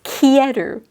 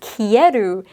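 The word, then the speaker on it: 消える: Kesu versus kieru. So again, the kanji are the same, but they're pronounced differently. And then you've got like a hiragana su after the kesu versus an eru hiragana after kieru.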